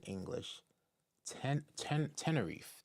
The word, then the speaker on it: Tenerife: jeans ask for you go ahead it is pronounced 10. r e English 10 10 Tenerife Tenerife in English a Spanish Island on the coast